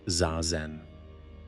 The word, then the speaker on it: zazen: In Zen, one of the central practices is called zazen, pronounced zazen.